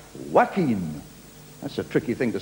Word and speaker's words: Joaquin: celebrity coming on now who spells his first name joaquin but he wants it pronounced wackeen that's a tricky thing